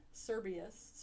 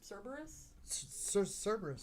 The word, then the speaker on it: Cerberus: including which of these horrific creatures oh a serbius cerberus cerberus okay b medusa oh wow okay